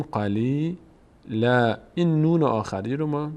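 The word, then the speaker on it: قليلا: اینجا اگر وصل نکنیم اگر وقف بکنیم ثمنا قلیلا دیگه نمیگیم قلیلاً میگیم قلیل لا این نون آخری رو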